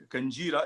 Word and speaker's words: Kanjira: It's called Kanjira. It's spelled Kanjera.